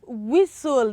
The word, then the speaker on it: whistle: Okay, so for the first word, we have whistle, not whistle.